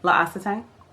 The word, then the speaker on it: L'Occitane: the Amande shower gel from, let me say, L'Occitane. I think is that how you pronounce it. That's how you pronounce it. L'Occitane.